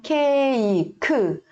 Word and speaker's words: 케이크: Cake. Não vai ler cake como em inglês. A gente vai ler com esse som mesmo.